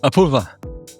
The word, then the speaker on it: Apurva: Apoorva, welcome to the podcast.